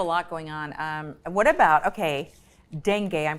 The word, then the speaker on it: dengue: What about, dengue, I'm pronouncing that right?